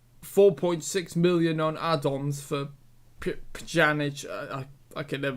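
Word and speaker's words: Pjanić: And, yeah, so a further 5 million, so 4.6 million on add-ons for Pjanic. I can never pronounce his name. Pjanic.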